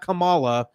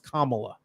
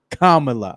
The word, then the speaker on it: Kamala: pronunciation right it's not Kamala she's not a wrestler from the 80s it's Kamala Kamala okay there you go